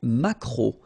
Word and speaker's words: maquereau: Le maquereau, so technically this K, just pronounce it K, mac, maquereau, maquereau. Alright, and then E-A-U, remember when you combine these three vowels, you get the sound O, maquereau.